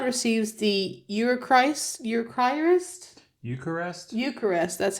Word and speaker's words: Eucharist: where a child receives the eist eist Eucharist Eucharist that's how you say it or Holy Communion